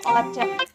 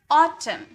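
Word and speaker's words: autumn: यहां भी ए यू एक साथ आया। इसे भी ऑ में निकला। तो इसे हम क्या बोलेंगे? ऑटम। इसे हम बोलेंगे ऑटम।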